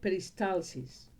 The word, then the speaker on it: peristalsis: Peristalsis, que la diferencia entre el español y el inglés es cómo se pronuncia la L a la catalana en inglés, peristalsis, es un proceso por